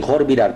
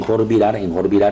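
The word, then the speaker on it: Khor Virap: A Tiritades, como tirando, como tiri, en Jorvirar, escribe así, recuerden, se pronuncia con J porque la KH me forma J. En Jorvirar, que es Jorvirar, que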